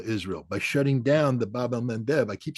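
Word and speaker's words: Bab el-Mandeb: Achilles heel of Israel by shutting down the Babel Mev I keep saying that because I finally pronounce it right uh and uh and you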